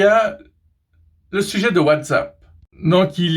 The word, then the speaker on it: WhatsApp: Bon, à la base, ça se prononce WhatsApp, mais c'est devenu WhatsApp suite à la francophonie.